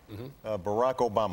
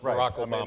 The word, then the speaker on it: Barack Obama: get that funny name Barack Obama although they say you know you had a top ten list but you missed a couple ways to mispronounce brocco bomb there was Alabama and yo mama but my father was